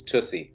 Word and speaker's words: Tussie: It's Tussie, by the way, the whole time you've been saying it wrong.